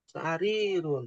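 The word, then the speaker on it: سريرٌ: Bukan dibacanya pendek, tapi bacanya panjang. Sarirun, jangan sampai salah baca. Panjang pendeknya perhatikan.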